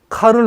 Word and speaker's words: 카를: 신성 로마 제국이었던 독일 카를 5세가 이제 곤란이 되는 거라, 이게 카를 5세가. 카를 5세. 프랑스어로 발음하면 샤를르가 되고, 영국처럼 하면 찰스. 독일어는 카를 얘기해.